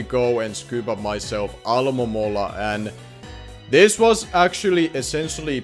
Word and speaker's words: Alomomola: That name is very hard for me for whatever reason to pronounce. Alomomola. That's how I'm gonna be pronouncing its name from now on. That's literally how you say it.